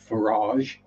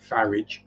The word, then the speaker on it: Farage: But then you get infamous UK politician Nigel Farage, which is spelt the same as garage. So I pronounce it Farage.